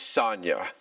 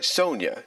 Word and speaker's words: Sonia: Her name is Sonia, or Sonia, depending on how you want to pronounce it. Sonia to basically sound like Sonic, or just Sonia, or